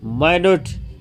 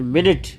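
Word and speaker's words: minute: के एग्जाम्पल क्या है, माइन्यूट एंड मिनट, ठीक है, इसको बोलते हैं माइन्यूट, इसको बोलते हैं मिनट। तो साउंड अलग अलग हो गया, डिफरेंट साउंड, डिफरेंट साउंड मतलब ग्राफ, ठीक है। स्पेलिंग एक जैसी है, स्पेलिंग एक जैसी है, साउंड अलग है।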